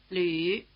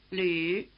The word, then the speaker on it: 吕: 李鲁吕 The reason for including the first 2 names in the display is that the new vowel written U umlaut combines features of the vowels written I and U.